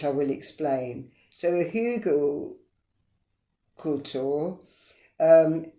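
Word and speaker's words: Hügelkultur: and biochar which I will explain so a hugle cultour um it's spelled h u with the uml you know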